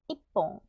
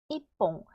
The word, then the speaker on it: 一本: 한 병은 이, 윽, 뽀, 응이네, 이뽕, 이뽕.